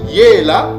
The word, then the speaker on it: Yela: Donc le mot génie Yela en malaki kongo c'est ça la bonne prononciation.